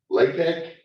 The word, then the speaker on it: LaTeX: LaTeX, it's LATE. Well, we spell it this way, LATEX. But it was some years back.